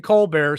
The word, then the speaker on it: Colbert: colbert sorry colbert stephen colbert staffers the why is the t silent does that even make sense it looks like colbert but it's pronounced colbert where why don't why